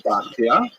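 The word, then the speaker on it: Bachya: The customary pronunciation is Bachia, but it's not a regular Hebrew spelling at all. Bachia would be something like Beit Het Yud He, maybe, but people say Bachia.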